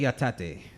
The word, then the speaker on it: Yatate: I did not finish pronouncing. Go ahead. Hajime Yatate.